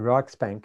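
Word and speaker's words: Riksbank: a Swedish Rich bank is it rick Bank I'm not quite sure how you pronounce it anyway prize committee to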